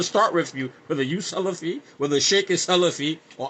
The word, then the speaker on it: Salaf: Imagine how if you can't say Salaf rightly, you're saying Sulaaf. Sulaaf means alcohol.